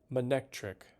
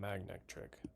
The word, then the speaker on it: Manectric: Manectric. That's how you say it. I don't know why I want to call it Magnetric.